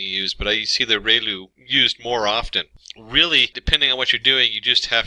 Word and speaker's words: ReLU: we have the relu it's pronounced like re the from the sun and liu like a name so relu function and we have the